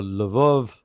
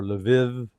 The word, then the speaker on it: Lviv: So Lvov or Lviv, however you want to pronounce it, in a couple of different ways it's spelled, is in western Ukraine.